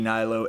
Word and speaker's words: Hnilo: It's at Hnilo, ANDYHNILO. At Twitter, and then Facebook, Hnilo, ANDYHNILO. H is silent.